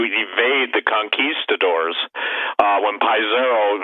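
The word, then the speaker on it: Pizarro: the conquistadors uh when piezero and pisarro some people pronounce it basically ransacked peru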